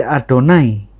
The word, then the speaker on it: Adonai: Jikalau nikutnya tertulis Yehova atau Yehua kere cara bacanya bukan Yehova atau Yehua tapi Adonai.